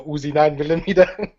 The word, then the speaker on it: UziNineMillomeetah: You gotta say it right, like the Terminator, the UziNineMillomeetah.